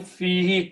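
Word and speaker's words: فيه: When you write down together, because of this kasra, you pronounce this who as he. So it becomes fihi.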